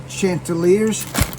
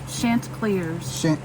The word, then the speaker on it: Chanticleers: Coastal Carolina Chanticleers. Chanticleers.